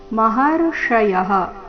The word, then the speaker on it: ಮಹರ್ಷಯಃ: ಪ್ರಭವನ್ನ ಮಹರ್ಷಯಹ ಪ್ರಭವನ್ನ ಮಹರ್ಷಯಹ ಮಹರ್ಷಯಹ ಶಬ್ದದಲ್ಲಿ ಮೂರ್ಧನ್ಯ ಶಿದೆ ಭವನ್ನ ಮಹರ್ಷಯಹ ಅಹಮಾದಿರ್ಹಿ ದೇವಾನಾಂ ಅಹಮಾದಿರ್ಹಿ ಅಹಮಾದಿರ್ಹಿ